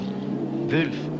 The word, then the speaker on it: Wolf: a wolf prepared car. Vulf, I think is the pronunciation.